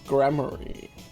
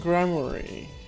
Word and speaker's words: Gramarye: Something gramarye. Yes, Zach Gramarye. I feel like that's still supposed to be pronounced like rye bread, but anyway.